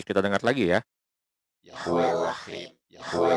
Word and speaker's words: Elohim: Yahweh Lohim, ya, melafalkannya dengan Lohim, Lohim, ya, bukan Elohenu tapi Lohim, bukan juga Elohim. Dia melafalkannya dengan Lohim, ya. Ya, mungkin niatnya itu dia ingin melafalkan untuk bilang Elohim, ya. Tapi karena mungkin dia pengen bergaya dan mungkin dia pengen kelihatan keren, dia malah nyebutnya dengan kata Lohim, ya, Lohim, bukan Elohim, tapi Elohim, ya. Nah, L-nya ini malah diilangin.